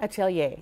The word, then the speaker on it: Atelier: We're going behind the business with Teresa DeJarlais, the owner of PORCH and Atelier. Did I say it right? Atelier.